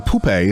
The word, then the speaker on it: pupa: What happens once the bee dies, the pupae, if I'm saying that right, P-U-P-A, I looked it up and listened to this pronunciation. I still get pupa.